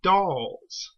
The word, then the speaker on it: Dals: It's not mentioned here, but the Thals have actually confused the Daleks' ancestors, the Khalids, with the Dals. D-A-L, not T-H, like the Thals.